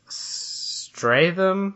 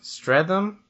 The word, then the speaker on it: Streatham: pull it up I don't know how to pronounce the name give the track give it a whirl all right it's stratum Streatham Streatham Rovers FC there are a low Division